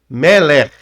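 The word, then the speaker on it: מֶלֶךְ: O CAF sufite sempre vai ser RAF no final. Quando eu falo RAF, eu já estou falando que é o R arrastado.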